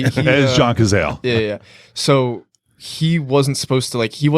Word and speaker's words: Cazale: that was set up I saw uh John Cazale that's how you say his name yeah um that's how I say it is John Cazale yeah yeah so he wasn't supposed to like